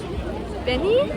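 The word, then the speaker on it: BENEE: course can't forget um benny i think he pronounced it benny i'm not a hundred percent sure b e n e e um i loved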